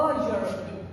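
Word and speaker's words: European: इट इज आई मेट अ यूरोपियन। So because pronunciation में ए या यू की sound नहीं आती।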